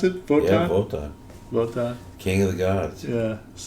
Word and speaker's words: Wotan: Is that how you pronounce it? Wotan? Yeah, Wotan.